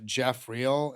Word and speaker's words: Geoff Real: So, you can find me on Instagram, uh, Jeffreel, and that's spelled G E O FF R E A